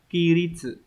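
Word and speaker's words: 規律: Cái này phải đọc là ki ri.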